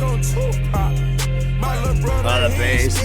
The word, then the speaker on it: Tupac: Track 6, which is called 2-Pack. Right? 2-Pack? That's how you say it? Because I can't help it. Every now and then I have to say some shit that infuriates people. It's called Tupac, produced by Nard and B.